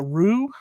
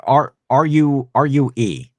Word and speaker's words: rue: Rude. It's like R-U-E. You'll rue the day.